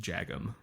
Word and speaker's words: Jagim: I didn't know if it was like that soft J. So I was on the podcast that he had. It was him and Andy Askow. And I asked him how to pronounce his name. So I feel even worse for not being positive. Yeah. But I'm 99% sure I asked him, and it was just Jagim.